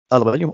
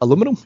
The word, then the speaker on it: aluminium: Yeah, that was aluminium, or as Americans say, what was it, aluminum?